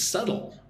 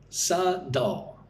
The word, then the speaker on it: subtle: Next word is subtle. I don't know why there is a B and the T in this word. You don't pronounce the B or the T. It's like a D. Su dul.